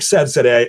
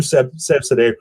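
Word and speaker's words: Seyfzadeh: I think Sevzadeh is the right way to pronounce it.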